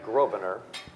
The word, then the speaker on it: Grosvenor: I'm Grosvenor. Don't say the S. Oh, so the S is silent.